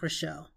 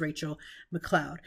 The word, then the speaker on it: Rachelle McCloud: today we have relle actually I said that incorrectly it's Rachel mlau now her name is spelled like relle like literally on paper it's spelled like Michelle but her name is Rachel McLoud and Rachel is a